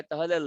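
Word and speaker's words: ط: ত থেকে তা আলাদা হবে ত মোটা, তা পাতলা।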